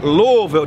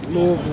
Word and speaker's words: Louisville: Demetrius brother is from Louisville don't say Louisville say L what how do you say it louville Louisville and I asked